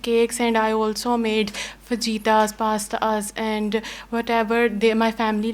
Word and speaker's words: fajita: Fajita is maybe in English, but actually it's a Spanish word. So in English also, we pronounce it fajita.